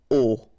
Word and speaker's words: au: You write it au, you pronounce it o.